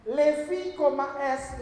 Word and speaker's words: Levi's: Levi, S, Levi Strauss, keturunan Yahudi yang di Austria. Strauss, kan koma tuh, Levi's bacanya.